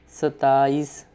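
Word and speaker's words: ستائیس: 27 sattāis with soft T like in Arabic or Spanish language.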